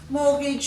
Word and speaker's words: mortgage: write e in there mortgage you've got the silent t the g at the end is making um because it has the e after it it's making it soft sound because we can't have english words ending j ever so we